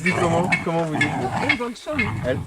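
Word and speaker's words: El Bolsón: Quand ils disent El Bolson, non, avec cette prononciation, ça fait comme El Abrahim Abdullah. Pourquoi ça se dit comment? Comment vous dites? El Bolson, El. avec l'accent sur le Bolson en réalité.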